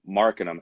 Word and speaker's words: Marcanum: But then even though it's pronounced Arcanum, I wanted to be like Marcanum, as like in like